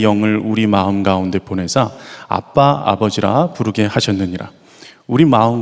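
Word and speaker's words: אבא: 기록한 이유가 무엇일까 이 아빠 라는 단어는 유대인들이 아빠를 가장 친근하게 부를 때 쓰는 아람어 입니다 어 그 단어가 아빠 라는 단어입니다 발음이 거의 저희 나라가 아빠라고 부른 것과 비슷합니다 그리고 이 아버지라는 단어는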